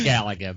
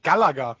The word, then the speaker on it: Galaga: It's Galaga, by the way. How do you pronounce uh that game, Sven? Uh Galaga.